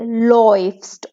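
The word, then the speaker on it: läufst: आ उमलाउट ऊ में। तो डू लॉइफ्स्ट। ठीक है, इसको आप ऐसे ही प्रोनाउंस करोगे, लॉइफ्स्ट, ऑय, लॉइफ्स्ट।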